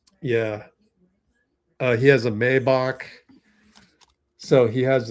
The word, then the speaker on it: Maybach: technically two Maybach although Mayback I refuse to call it Mayback because it's pronounced Maybach but okay Maybback and